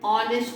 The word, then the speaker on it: honest: For example, an apple, an umbrella, an egg, an honest man. See, H is silent.